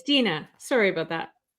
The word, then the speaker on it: Deanna: My name's My name looks like Diana. It's pronounced Dina.